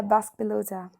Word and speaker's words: Basque pelota: Is that how you pronounce it? Yeah, Basque Pelota.